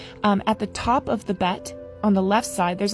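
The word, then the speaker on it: ב: and its alternative pronunciation if there's no dot in the center then it's pronounced as vet and so the letter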